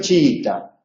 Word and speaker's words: chiita: en en ambos casos tanto en chiita como en chií es la segunda I de el encuentro vocálico la que lleva el acento en la pronunciación pero la tilde solamente